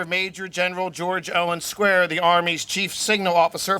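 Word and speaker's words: Squier: Once asked how to pronounce his name, George Owen Square said, well, you say it as you would the word square.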